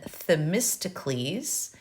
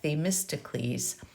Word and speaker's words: Themistocles: The Athenian politician Themistocles, and again, I'm just giving you a way to pronounce that, Themistocles, had foreseen trouble many